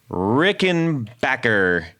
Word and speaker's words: Rickenbacker: got a very special 101 because this is Rick and Backer you said it right 101 I I had